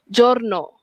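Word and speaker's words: giorno: The soft J sound. Okey. G I dan juga G E. Contohnya jorno. Jorno hari ataupun day.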